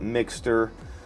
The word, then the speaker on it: Mixcder: shall we the company mix cedar that's how I like to pronounce it I've heard people call it mixter but mixed cedar seems to be the most logical I think I don't